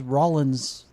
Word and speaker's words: Rollins: It is Rollins, though I've always looked at it and went, I think it should be pronounced the other way, but I'm not going to win against the rest of the family.